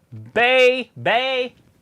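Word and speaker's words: Bay Bay: Bay! That's how you say it. It's like the bay of the beach, but you say it twice.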